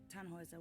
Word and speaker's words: Tannhäuser: We pronounce it Tannhäuser with an umlaut.